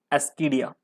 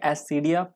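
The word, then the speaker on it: Ascidia: सबसे पहला एस्कीडिया। ठीक है, एस्कीडिया या एसिडिया जैसे पढ़ना है पढ़ो, स्पेलिंग याद रखना, नाम ध्यान रखना किसका एग्जाम्पल है, तो एस्कीडिया या एसिडिया बोलो, एस्कीडिया ही बोलते चलो।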